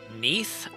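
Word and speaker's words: Nieth: Neath. Goddess of divine magic. Like Keith, but with an N. Yeah, I'll spell it. N I E T H.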